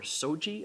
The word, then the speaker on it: SOGI: I like it because it sounds so samurai. You know, have these data been checked for SOGI effects?